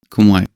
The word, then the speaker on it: Khmer: One interesting, although expected thing about Cambodia is that it is pretty much all Khmer, or how it is pronounced natively, Khmer, and pretty much all Buddhist.